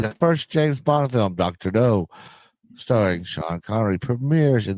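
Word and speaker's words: Dr. No: 1963, the first James Bond film, Dr. O starring Sean Connory premieres in the US. It's spelled N O not K n.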